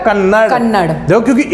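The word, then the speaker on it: Kannada: कन्नड़ डी ए बोल कन्नडा लेकिन कन्नड़ है कन्नड़ है कन्नडा नहीं पढ़ते इसे कन्नड़ ठीक है तो डी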